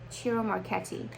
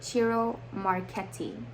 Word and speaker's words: Ciro Marchetti: CIRO Marchetti, sorry, CIRO Marchetti. I believe that's how his name is pronounced because I did Google Translate English to Italian, and that's how they pronounced it when I did that. CIRO Marchetti.